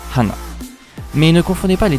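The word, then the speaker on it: 鼻: Il est d'ailleurs intéressant de dire que le nez qui se prononce aussi hana, mais qui ne détient pas néanmoins le même kanji, se prononce ainsi de par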